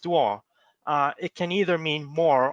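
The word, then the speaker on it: 多: means to get together and duo which is pronounced duo it can either mean more or a lot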